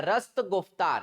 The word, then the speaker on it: रस्त गुफ्तार: इन्होंने एक गुजराती पत्रिका रस्त गुफ्तार, यहाँ पे स्पेलिंग गलत लिखा हुआ है, रस्ट लिखा हुआ है, ये रस्त गुफ्तार है।